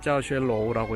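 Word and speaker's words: 教学楼: 교학루라고 써져 있습니다. 중국어로는 짜오쉐로우라고 읽습니다. 저기가 학교의 가장 주요한 강의 건물이죠.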